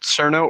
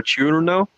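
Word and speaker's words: Cirno: The character is named, depending on how you pronounce it, Cerno or Chiurno.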